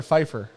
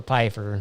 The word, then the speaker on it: Pfeiffer: Pay the Pied Piper Pfeiffer. Say it like that. paid the Pied Piper Piper. Nope. Pfeiffer. Pfeiffer.